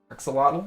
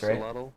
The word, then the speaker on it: axolotl: How do you actually pronounce this? The name of this new mob, like the axolotl thing. Axolotl? I think that's axolotl?